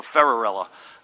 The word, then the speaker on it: Ferrarella: this pronunciation right and they said think Cinderella so ferrarella John there he is